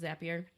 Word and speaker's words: Zapier: that is like a key for automation zippier yep you already know how to say it anyone who is looking to automate some simple things and even some more complex things you know zapier we're gonna go with zapier is these who'll it